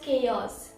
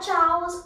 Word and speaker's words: chaos: It's actually known as chaos and not chaos or nothing like that.